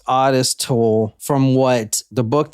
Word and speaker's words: Ottis: Yeah, it is pronounced Ottis Toole from what the book that I read.